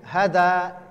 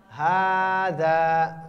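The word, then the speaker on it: هذا: hanya fathah berdiri semuanya jadi bacanya bukan Haza tapi khaza kan Ini bacanya Hada itu salah harusnya khaza masanya H Alif Za itu tapi digabung jadi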